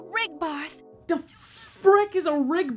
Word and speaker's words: Rigbarth: all the denizens of rig birth which i'm pretty sure is not how it's pronounced because every single time a voice actor said it i repeated it almost confused and offended to the light to rigbarth the frick is a